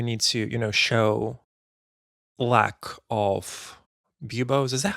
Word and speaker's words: buboes: The guards would definitely shout that you need to, show lack of buboes.